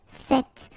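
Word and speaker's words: cette: if you listen carefully the masculine form here set and The Feminine form here set you write them differently but then you pronounce them the same way all right for the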